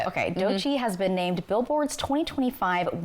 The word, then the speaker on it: Doechii: Okay, Doechii has been named Billboard's 2025 Woman of the Year.